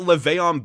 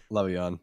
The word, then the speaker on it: Le'Veon: You've got Le'Veon Bell sitting out an entire NFL season just because he didn't like his coach. Le'Veon, not Le'Veon.